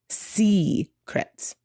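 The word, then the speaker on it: Seacrets: And their destination was going to be this one called Secrets, which is spelled Secrets, like the sea.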